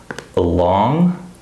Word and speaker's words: along: Along, all on, all right? So notice in this word, the second syllable is stressed, along.